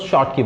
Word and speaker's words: Schottky: अब बच्चों यहाँ स्कॉटकी डिफेक्ट का प्रोनाउंसिएशन जो है स्कॉटकी, कई बार इसको स्कॉटकी बोला जाता है और कई बार हम इसको जल्दी से जब बोलते हैं तो शॉर्ट की बोलते हैं, शॉर्ट की। तो वैसे क्या होता है स्कॉट की, लेकिन होता क्या है शॉर्ट की। तो आप कुछ भी प्रोनाउंस कीजिए, स्कॉट की या शॉर्ट की, हमें प्रोनाउंस से मतलब नहीं है, हमें तो मीनिंग से मतलब है।